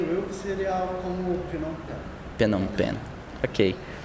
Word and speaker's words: Phnom Penh: Como é que pronuncia? Creio eu que seria algo como Phnom Penh.